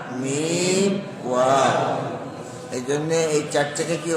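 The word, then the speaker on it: واو: হরফের নাম ওয়াও, হরফের উচ্চারণ নরম করে, ওয়াও, এরকম শক্ত না, ওয়াও।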